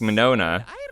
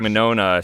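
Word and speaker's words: Mignogna: i did meet vic monona i'm pretty sure it's pronounced i think the g is silent i met him at a an anime convention in 2013.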